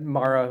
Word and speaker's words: Mara: how do you how did it say it mara mayor he said mirror of it mara would be how it's how it's pronounced i didn't know her name but she